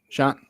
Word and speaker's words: Schoen: Is it Schoen is the new general manager? Is that how you pronounce his last name? Or is it Shane? Sean.